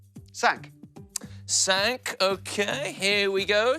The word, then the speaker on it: cinq: Cinq. Cinq, OK, here we go, cinq. Oh, squeeze it round there. And that's another nosy sound, isn't it, cinq? Yes, it is. Cinq has a nasal sound again.